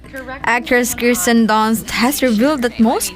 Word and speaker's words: Kirsten: I'm like, I'll answer Kristen. Kirsten, Kirsten, which is how you say my name, but I don't blame people.